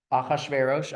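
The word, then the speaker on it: אחשורוש: And you have Achashverosh. I'm using the Hebrew pronunciation.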